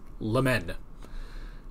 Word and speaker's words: Lemin: My last name, Lemin, is pronounced Lemen. It's French, actually.